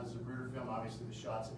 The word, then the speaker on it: Zapruder: As he's driving 1233, and there's something called the Zapruder, spelled with a Z, it's a Zapruder film.